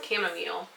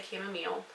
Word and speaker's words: chamomile: And some chamomile. Some people pronounce it chamomile. I say chamomile.